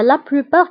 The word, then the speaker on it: la plupart: فانتبهوا بالنسبة la plupart كنكتبوها بالت في آخر الكلمة ولكن لا تنطق.